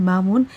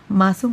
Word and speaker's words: মামুন: মিল পড়ার সময় আপু আমার নাম মামুন ঠিকভাবে উচ্চারণ করলেও ভাইয়া আমার নামটি মাসুম বলেছিল নামের ক্ষেত্রে আরেকটু ভালোভাবে উচ্চারণ করলে খুশি হব মহানগরে কমলাপুর